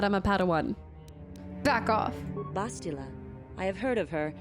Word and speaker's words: Bastila: you're assuming that I'm a pan back off bastila I have heard of her bastila they say